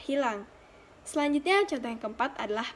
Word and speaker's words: hilang: Selanjutnya, yang ketiga adalah pada kata hilang. Dalam bahasa tidak baku, pengucapannya adalah ilang, sedangkan pengucapan dalam bahasa baku adalah hilang.